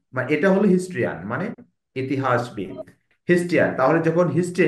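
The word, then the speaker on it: historian: হিস্টরিকাল তাইলে হিস্টরিকাল যখন তখন টরিকল আসবে ও উচ্চারণটা হবে আর যখন হিস্ট্রিয়ান মানে এটা হলো হিস্ট্রিয়ান মানে ইতিহাসবিদ তাহলে যখন হিস্ট্রি ইতিহাস তখন হিস্ট্রিয়ান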